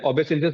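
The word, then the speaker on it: obeisance: order it's your duty तो ओबेसस इसको हम प्रोनाउंस करते हैं ओबेसस मतलब जो हम बोलते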